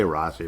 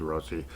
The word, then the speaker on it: Rossi: Minnesota Wild Rossy rosi I guess they'll say Rossy but you know it's pronounced rosi fa's at a half